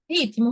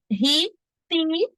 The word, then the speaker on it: ritmo: ritmo de tal dança ritmo ritmo se escreve assim gente r i t m o esse T como se fosse um pé mudo o que é Laís mas todo mundo fala ri tem É verdade tem parece que tem um sonzinho do e tem um sonzinho do I mas não existe na escrita pode ser